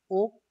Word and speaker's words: Oak: Team change the name ओक टू जावा. मतलब उन्होंने सबसे पहले उसका नाम क्या था, ओ ए के, लाइक हम उसे प्रोनाउंस करेंगे ओक.